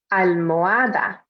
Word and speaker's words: almohada: Almohada. Pillow. Remember that H in the middle is silent, so don't pronounce it.